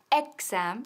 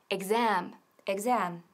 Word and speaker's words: exam: Y cuidado con la pronunciación de exam, porque nunca decimos exam, sino exam.